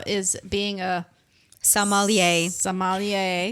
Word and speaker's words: sommelier: the summer yeah yeah and say it again sommelier i almost people always said some ollie see how she says it yes i call